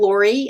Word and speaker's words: Lourie: in any doubt just go to the lori and my last name is spelled l-o-u-r-i-e dot com and use the contact